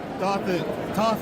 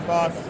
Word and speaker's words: Thoth: Yeah, Thoth or Thoth, people say it differently, but it's the Egyptian god of wisdom.